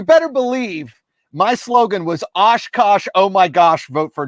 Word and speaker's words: OshKosh: a kid i mean oshkosh rhymes with josh i wore a lot